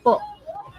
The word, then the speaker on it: po: When pronouncing po, you'll want to put a glottle stop at the end. It means that your throat closes right over here. Po. It's not po, but po.